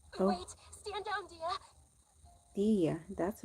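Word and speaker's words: Dehya: Dia, that's how you pronounce her name.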